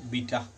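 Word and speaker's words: beta: এখানে লেখা হয় বিটা, কোনো কোনো জায়গায় বিটা লেখা আছে, কোনো কোনো ইংরেজি উচ্চারণের ক্ষেত্রে কোথাও কোথাও লেখা আছে বিটা, আর কোথাও লেখা আছে বেটা, তুমি যেটা খুশি বলতে পারো, এটা বলবে প্রচলিত এটাই বলা হয় বিটা।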